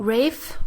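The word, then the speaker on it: Ralph: no just out of curiosity how do you pronounce Voldemort's name the actor who plays him Oh Rafe yeah I said raise fine she I thought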